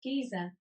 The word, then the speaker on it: geyser: how to use the geezer geyser geyser in just a moment's time geyser geyser british pronunciation giza giza that sounds better giza giza all right